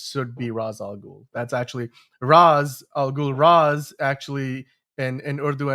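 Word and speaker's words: Ra's al Ghul: That's actually raz algul.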